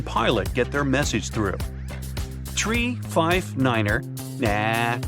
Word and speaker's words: tree: some Mega secret code it's the way Pilots pronounce certain numbers in their pilot English tree stands for three five for five and ner is used instead of nine such pronunciation helps to avoid radio miscommunications and the confusion caused by similar sounding numbers uh we're just finishing